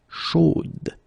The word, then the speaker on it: chaude: Chaude. So here you pronounce the final D, whereas in the masculine form you don't pronounce it.